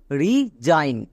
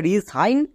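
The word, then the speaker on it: resign: এখানে এস এর দুপাশে ভাওয়েল আছে, তাই এস এর জন্য বর্গীয় জো উচ্চারণ করব। নেক্সট IGN ওয়ার্ড প্যাটার্ন, এর জন্য সাউন্ড হয় আইন, তাহলে বর্গীয় জো প্লাস আইন, জাইন। এবার পুরোটা কি দাঁড়ালো? রিজাইন। একে আমরা রিসাইন বলতে পারবো না।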